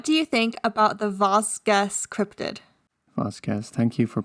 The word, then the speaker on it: Vosges: I think it's like Vosges. Vosges. Vosges. So we don't say Vasquez anymore. It's Vosges.